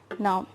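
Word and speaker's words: nous: about us v and its pronunciation is no now if the noun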